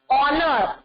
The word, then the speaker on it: honor: When the consonant H is silent. So, the example here is an R, an honor. Here, we say honor. So, which sound is coming?